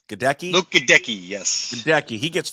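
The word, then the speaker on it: Goedeke: How do you pronounce his last name? Gadecki? Luke Gadecki, yes.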